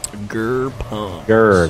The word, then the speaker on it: Gerpums: Gerpums. Gerr. I have to remember that. Just think Austin Powers. Gerr, baby! Yeah.